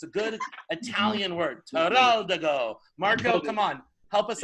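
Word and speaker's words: Teroldego: We're going to say Terraldigo, okay? 1, 2, 3. Terraldigo. All right, it's always easier if you do with a hand movement, too, because it's a good Italian word. Terraldigo.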